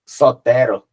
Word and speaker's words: Sotero: É isso, Sotero. Sotero que é como se fala, é como se fala do Soteropolitano.